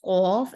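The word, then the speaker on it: ق: Both are the letters that do sound similar, but one is a heavier one and the other one is a lighter one. So to pronounce heavy, you have to lift the back of your tongue a little bit upwards to make the sound heavier, and it's going to be more like a Q sound in English, cough.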